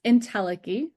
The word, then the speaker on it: entelechy: It's pronounced entelechy.